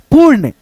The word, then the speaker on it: पूर्ण: जैसे वीरता पू, उसके बाद से आधा र अड़, पूर्ण, वीरता पूर्ण।